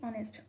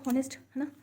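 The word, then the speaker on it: honest: इनके साथ और लगाएंगे जैसे की ऑनेस्ट हम क्या लगाते हैं तो ये ऑनेस्ट तो हम साइलेंट रखते हैं ना तो क्या लगाएंगे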